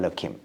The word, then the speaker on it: Elokim: And then we don't even pronounce it in non-religious contexts. We call it Elokim.